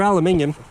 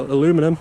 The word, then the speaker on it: aluminium: The thing, these are aluminium or aluminum, as you Americans say.